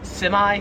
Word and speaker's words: semi: So yeah, we say this word as semi, like with the I, we say I at the end. In Australian English, they would pronounce it semi. Semi, but yeah, I know some Americans who say it the Australian way, the semi way.